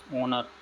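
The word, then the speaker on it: honour: इट is blank ऑनर to meet you, इसमें क्या आएगा, ऑनर, ओनर, तो ओनर में एन।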